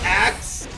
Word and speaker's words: AKZ: It is pronounced axe.